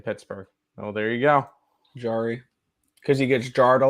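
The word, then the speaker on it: Jarry: Yari's like a jar. That's how they say it in Pittsburgh. Oh, there you go. Jari.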